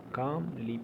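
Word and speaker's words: calmly: क्या है इत्मीनान से एल साइलेंट है इस में ठीक कामली पहला वाला एल माय डियर फ्रेंड मेरे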